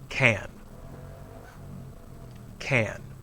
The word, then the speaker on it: can: itself we pronounce it can can but when we say can in a sentence the pronunciation usually changes listen i can sing notice the stress the word can is unstressed the main verb after